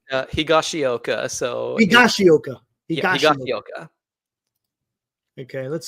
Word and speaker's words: Higashioka: Higashioka.